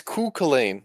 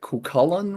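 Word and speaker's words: Cú Chulainn: card I I've heard Cain Cain it's it's culain he and then there's a weird pronunciation with uh what is it kullan whatever ever the heck that is ignore how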